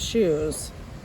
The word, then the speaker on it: shoes: of different types of shoes s-h-o-e-s shoes shoes so even though there's no you in that word it sounds like you're saying the letter u shoes eight closed that